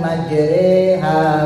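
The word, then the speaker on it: مجراها: Maka kalau Bapak pernah belajar tajwid itu ada bacaan yang namanya imalah. Doa naik kendaraan itu dibacanya imalah. Bismillahi majriha wa mursaha.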